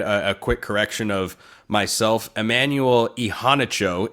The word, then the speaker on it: Immanuel Iheanacho: Emanuel Ehanicho is how uh he told Pat McAfee on ESPN. He pronounces his name, five-star offensive tackle.